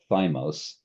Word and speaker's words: thymos: This is sometimes spelled thymos, but we're going to call it thumos because the Y is pronounced like a U.